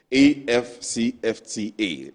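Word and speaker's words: AfCFTA: like I'm learning now it is not for us to pronounce after after it is a ffta that is it right exactly a ffta yes so I'll come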